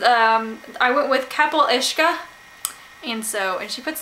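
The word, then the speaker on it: capall uisce: here's here she says um i went with kapil ishka and so and she puts the pronunciation in the author's note which is something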